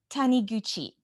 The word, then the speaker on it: Taniguchi: it can you say it for me sure taniguchi honeygucci hanayuchi lori can you tell us a